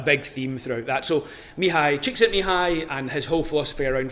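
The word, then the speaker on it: Mihály Csíkszentmihályi: So it was discovered by someone called Mihai Csikszentmihalyi, who was a Hungarian psychologist.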